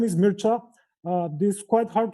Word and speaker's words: Mircea: bit of introduction of myself my name is mircha uh this is quite hard to pronounce if you are not a romanian basically